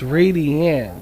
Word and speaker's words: Radian: Did I say Did I pronounce that right? I said Radian, but it's Radian.